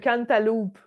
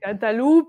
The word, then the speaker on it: Cantaloupe: Ouais, l'album Cantaloupe. Quand... tu dis-tu le E ou tu dis Cantalou? Cantaloupe, il n'y a pas de E.